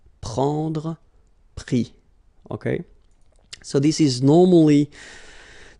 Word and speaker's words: pris: And then prendre, so ENDRE, will give ES, pris, okay? Same thing here. You don't pronounce the final S, okay?